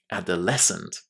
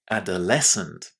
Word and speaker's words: adolescent: The stress there is on the last syllable. Listen and repeat again. Adolescent. Adolescent.